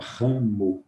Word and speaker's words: ramo: tem um M aqui, mas o M nós não pronunciamos. O M de nós não pronunciamos, nós não falamos, nós falamos ram. Então, nesse caso, nessa palavra, nós até pronunciamos também o M, mas antes de pronunciar o M, nós nasalizamos o A.